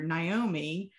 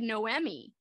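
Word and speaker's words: Noemí: um you know because i was calling the main character naomi yeah and it was pronounced differently in the the version you know when they yeah the audio book said noemi yes and so it's a very different pronunciation head i read it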